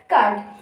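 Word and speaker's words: cud: क्या कहते हैं कर्ड इसको आप सड नहीं पढ़ोगे इसको आप पढ़ोगे कड अब अब क्या होता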